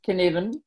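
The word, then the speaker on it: Cynefin: is familiar but right now so please it's pronounced can even okay and chaos is the fourth of the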